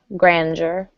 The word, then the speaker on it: grandeur: grandeur this might have a bit of a j sound Grandeur and the last one